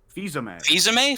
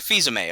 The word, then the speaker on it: Fils-Aimé: How do you pronounce his last name? Fils-Aimé. Fils-Aimé.